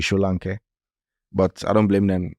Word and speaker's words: Solanke: But the commentators in England call it Solanke. Yeah. Because it's spelled Solanke. Yeah. But I don't think it's an English name. I think it's a Yoruba name. It should be Solanke.